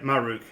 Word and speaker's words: Maruk: Yeah, you said it right, Maruk.